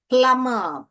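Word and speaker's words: plumb: फ्ल eggs flags फ्ल एस्क फ्लैस्क प्लम प्लम अर B silent है यहां पे प्लम फ ऑक फ्रॉग क्र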